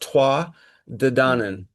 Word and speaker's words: Tuatha Dé Danann: The Tuatha Dé Danann. Is that it? is Yeah, this is a group of people My understanding is it's best pronounced Tuath Dé Danann.